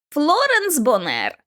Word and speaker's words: Флоренс Бонер: Флоренс Бонер. Наголос на другому складі до твого відома.